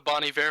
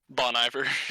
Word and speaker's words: Bon Iver: like you're rocking with the Bonnie Fair part yes yes is that how you pronounce it apparently I was gonna pronounce it Bon Iver Bon Iver yeah that's